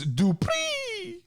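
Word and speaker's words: Dupri: on on smackdown form max dupreeh i think that's how he wants us to say it right yes uh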